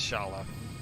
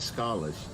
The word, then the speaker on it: Scala: I think it's Shala. Some Chrono Cross reference. It is. It's Scala. I was told how to say it up top.